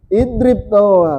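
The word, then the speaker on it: اضرب: Idrib. Kenapa bisa idrib eh rangga? Karena huruf ketiganya kasrah atau bukan dom. Bukan domma karena yang pasangannya u cuma domapi juga huruf ketiganya.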